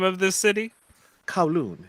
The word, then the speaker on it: Kowloon: How did you pronounce the name of this city? Kowloon, it's a part of Hong Kong.